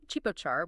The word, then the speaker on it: ជីពចរ: And today's outro music is a track called pronounced Chipochar, which means pulse.